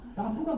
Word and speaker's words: rapport: 라포가 뭐냐요? 야 라포 몰라? RAPPORT 그랬더니 이분이 뭐라고 하시냐면 라포 이러시는 거예요. 아니 그 발음을 그렇게 하냐? 그랬더니 이분은 프랑스계 미국 분이셨는데 이 라포르라는 단어는 사실 프렌치에서 왔어요.